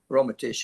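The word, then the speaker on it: Rometsch: And Romesh? Go ahead. What? Ellen Romesh, was it? Yeah, Ellen Romesh. Romatish is the way you pronounce it.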